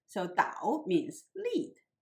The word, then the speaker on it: 导: The character here should be pronounced in the third tone rather than the fourth tone because it is used as a verb, means lead. So 导 means lead.